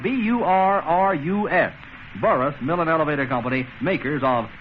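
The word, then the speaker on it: Burrus: comes to you sponsored and transcribed by the burris millen elevator company makers of good old light trust flower by the way let me spell burris for you we've been spelling light crust occasionally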